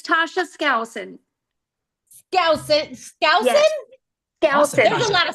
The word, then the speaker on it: Skousen: Skousen. There's a lot of silent letters in that last name.